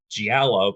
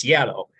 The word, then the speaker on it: Giallo: So I pronounce it Giallo because there's a G in it, but it's Giallo.